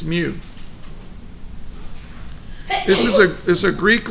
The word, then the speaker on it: mu: use to represent the coefficient of friction its mute this is a Greek letter mu here's how you remember how to say it's pronounced mute okay now American cats in America